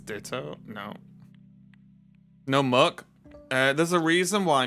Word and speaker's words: Muk: it's ditto no no Muk uh there's a reason why Muk rhymes with suck these guys are pooped